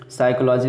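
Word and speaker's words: psychology: साइकोलॉजी देखिए, P silent है, मनोविज्ञान।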